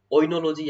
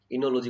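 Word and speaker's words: Oenology: पर कौन सी है, ओइनोलॉजी, या फिर इसको इनोलॉजी भी बोल देते हैं। इनोलॉजी बोला जाता है वैसे तो, बाकी ओ साइलेंट होता है, अपन बोल देते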